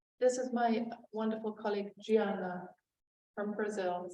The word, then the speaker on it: Diana: And this is my wonderful colleague Gianna from Brazil. So it's spelled Diana, but pronounced Gianna, like Georgiana.